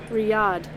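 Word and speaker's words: Riyadh: is so that way it don't sound stupid Riad Riad hey ank I think you're right Riad Riad there you go that's how you pronounce it Riad Riad Riad Riad Riad oh I was trying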